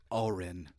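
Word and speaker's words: Auryn: take this it's the Oren Oren Oren so they I always thought it was like Oren with an O but it's spelled a-u-y-r-n so it's like oh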